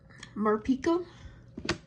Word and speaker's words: Morpeko: We got Morpeko.